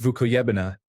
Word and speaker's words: Vukojabina: Vukojabina pronounced vukuybina denotes a place so desolate and forsaken that the only thing you can see there are wolves.